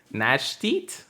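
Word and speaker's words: gnash: go the Nash teeth Nash teeth that's how you say it yeah cuz it's like nashing stuff be uh between its teeth I got to go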